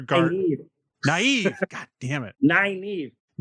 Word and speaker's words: Nynaeve: Naive. Like 9-inch nails. Naive. Nine times.